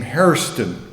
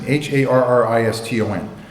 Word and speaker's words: Hairston: Well, and some African Americans who have a very hard R pronunciation pronounce the name Hairston. And so it sometimes is written as Hairston, Harriston. Among the whites, the pronunciation varies. Judge Peter used to say Hoston, and some of them say Hairston. In the southeast, it's called Hairston.